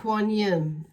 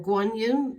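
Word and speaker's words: Guanyin: going to work with a quan yin and for guan yin to be depending on which way you pronounce it so cards in like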